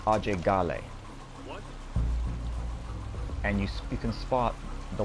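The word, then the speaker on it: Ajay Ghale: being raised in America he goes by a Jay Galle himself however apparently the proper pronunciation of his name is ah Jay golly and you speakin spot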